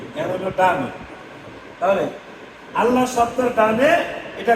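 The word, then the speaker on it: الله: তাহলে আমরা কি পাইছি আল্লাহ শব্দ পড়ার জন্য মোটা পাতলা পাতলা আল্লাহ শব্দের ডানে জবর আর পেশ থাকলে মোটা আল্লাহ শব্দ ডানে জের থাকলো কি চিকন মানে পাতলা এখন উচ্চারণ আস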